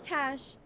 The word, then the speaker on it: Tash: And he's like, your name's Tash, that rhymes with fash, so you're a fascist.